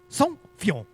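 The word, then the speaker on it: Saint-Feuillien: And we're just like, wait, hold on, slow down, say this a little, pronounce it a little bit more carefully. And he's like, oh, it's easy, Saint-Fillon.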